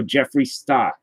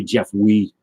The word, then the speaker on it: Jeffree Star: I don't say Jeff Wee. I'm not that kid at school pronouncing it. Jeff Wee.